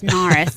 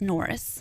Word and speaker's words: Norris: the lake okay so and they can't pronounce it that's why it's naris down there that side of lyy is naris and our side is Norris okay didn't you go